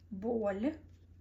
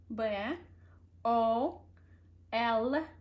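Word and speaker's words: боль: But when you're gonna say bol, you pronounce L sound very softly, as soft as you can. You change the frequency of the sound and make it bol.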